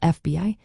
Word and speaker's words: FBI: NASA is an acronym pronounced as a word while FBI is an initialism said letter by letter.